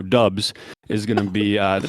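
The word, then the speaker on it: Doubs: saying since it happened romeo dobbs i'm sorry i pronounced it wrong it's romeo dubs is going to be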